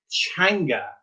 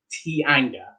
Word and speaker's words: teanga: Like that very first word here, this is the word in Irish that means language, and this is pronounced teanga, and you might expect this to be pronounced tianga.